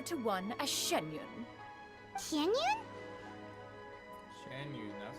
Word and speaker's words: Xianyun: Xianyun, that's how you pronounce it.